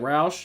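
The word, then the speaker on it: Rauch: And then Gibbons says, "Matt is pronounced like Roush."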